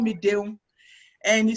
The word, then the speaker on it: Deun: so it was so it just really phonetically pronounced it as a french you know like dion so he said oh dion and he said oh